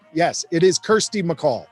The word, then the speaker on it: Kirsty: not quite no but it is actually pronounced like your little sister yes it is kirsty mccall right the call